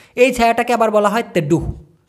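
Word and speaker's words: teduh: যে ছায়া পড়তেছে এই ছায়াটাকে আবার বলা হয় তেডুহু টি ই ডি ইউ হেইচ তেহু তেড্ডুহু আশা করি ব্যাপারটা ক্লিয়ার হইছে ভিডিও বানানোর সময়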